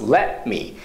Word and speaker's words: let me: 記号で言うと Let を止めます Let me で me も日本語だとこう棒つけちゃうんですけど某いらないです MI でいい